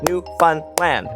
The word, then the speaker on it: Newfoundland: The big city in Ontario is pronounced Toronto. Nobody says the second T except Americans. Newfoundland is New Fun Land, and if you don't clap it out, they'll